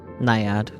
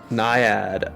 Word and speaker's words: Naiad: How do we pronounce it? Naiad. Naiad.